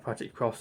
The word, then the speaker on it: Project X Zone: Project Cross, I think is technically how you're supposed to pronounce that.